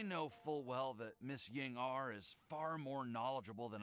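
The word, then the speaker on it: Ying'er: is right because Ying-ar, it's a Chinese name. And I believe ER in Chinese, it's pronounced like R or something like that, like R, not or ear. It's like R. So Ying-ar.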